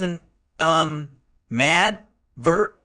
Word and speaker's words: animadvert: word type an advert is a verb it's pronounced as an um mad vert with distress on the third syllable meaning to